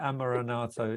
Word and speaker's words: Amaranatho: wrong the whole time no you've absolutely said my name completely right amaranato it's the it's really